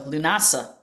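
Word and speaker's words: Lughnasadh: So, Lunasa, I remember the first time I tried to pronounce that um because it's written in the Celtic Gaelic language.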